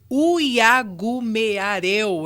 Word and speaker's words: Uiagumeareu: Hoje, a gente está recebendo aqui no nosso estúdio Libério Uyagumeareu, é assim que se fala, como se escreve também.